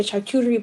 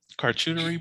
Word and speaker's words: charcuterie: That's how do you pronounce that fucking word? Uh, I can. Charcuterie board. Oh, yes. Now, why you say? Now I said. Now I'm thinking shark coochie, and I don't want to be in this place.